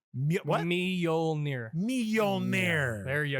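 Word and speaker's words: Mjölnir: Mjolnir. What? Mjolnir. Mjolnir. There you Like go. millionaire. There you but go. millionaire. But With an Norwegian. accent. With an accent. Millionaire, but Norwegian.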